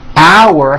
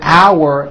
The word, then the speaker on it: our: The second word our has that ow sound like in the word out, and it sort of has a hidden W in the middle. Our. Think of the word our as having two syllables.